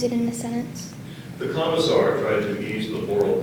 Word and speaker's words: commissar: a i g a tiger the word is commissar commissar can you oh never mind can you